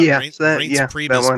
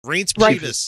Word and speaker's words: Reince Priebus: Oh, how about Reince Priebus being what the fuck is he? Chief of Staff. Reince Priebus.